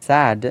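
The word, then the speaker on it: sad: about his so head तो सेड में एक ही साउंड और साद में ए के साउंड और हेड में सैम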